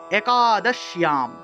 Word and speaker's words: একাদশ্যাম: তাহলে উচ্চারণটা হবে এইভাবে, একাদশ্যাম, একাদশ্যাম, ইয়াম, ইয়াম উচ্চারণটা হবে।